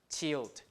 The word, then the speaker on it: child: So you pronounce it as child, child. So T hook, I-L-D. Or you can say C wedge is the same thing, right? I-L-D, child.